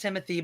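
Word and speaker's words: Timothée: It's pronounced Timothy, but it's spelled like it's like Timothy.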